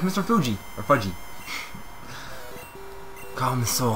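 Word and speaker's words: Fuji: That says F-U-J-I, though. You pronounce it Feejee. It's how the Japanese pronounce it.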